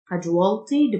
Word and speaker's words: casualty: الاستيو تنطق الجهد Casualty Department.